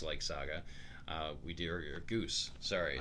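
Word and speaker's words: Ghüs: Gus likes Saga. We do your Goose. Sorry. I pronounce it Goose because the umlauts.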